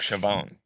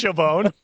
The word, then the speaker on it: Chauvin: That's our Derek Chauvin. Derek Chauvin. Chauvin. No, I like Chauvin. No, I like to add a little like emphasis French to it. Yeah, Chauvin.